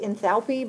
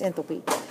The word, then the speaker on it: enthalpy: it's a real word sometimes you'll hear it pronounced enthalpy but I think that sounds weird so it's enthalpy it is the amount of energy absorbed or